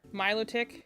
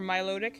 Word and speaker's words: Milotic: definitely a handful of, like Milotic, or Milotic, technically both could be right.